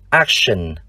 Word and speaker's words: action: Nhưng trong hai danh từ còn lại, chữ T chúng ta lại đọc là sh. Ví dụ danh từ trạm, station. Danh từ hành động, action.